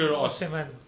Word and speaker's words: Osimhen: And Napoli are Insigne and Victor Osimhen. Osimhen. Victor. Victor जो है ना, he's- Osimhen.